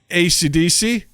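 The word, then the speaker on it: Esidisi: So haven't seen it myself, but Justin is going to be playing Eisidisi. It's not spelled that way, but that's apparently how it's pronounced.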